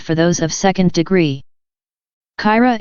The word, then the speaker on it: Kyra: Kyra is the word for those of 3rd degree, which they pronounce Kaira.